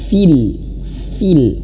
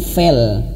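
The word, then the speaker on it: في: Fil awas fil bukan fel ya. Jadi kalau kita biasanya bacanya itu seperti itu ya. Fail'il waminyarrin naffasati fil uqad fil jangan. Tapi feel itu kesalahan yang pertama.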